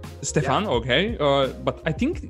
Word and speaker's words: Stephan: Should we call it Stephan? Stephan, yeah. Okay. But I think when it's German, it shouldn't it be Stephan or not? Stephan. Yeah, I wouldn't stress the exact pronunciation, but Stephan is perfect.